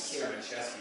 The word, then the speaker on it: Siermaczeski: Actually, the correct pronunciation is Siermaczeski, but there's a C's and Z's to go all the time.